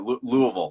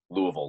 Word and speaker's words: Louisville: Yeah, Louisville.